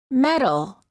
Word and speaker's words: metal: spelled with the D since they're both between two vowels the sounds are identical metal he want a gold